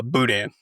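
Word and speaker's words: boudin: For the audio listeners, I'm just googling what how do you say it again? Uh, budan.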